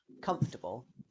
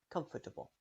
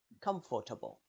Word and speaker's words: comfortable: f to c or you might hear some people pronounce a short schwa sound in between comfortable if you pronounce a long vowel sound here it will sound strange comfortable that doesn't sound right in summary there's a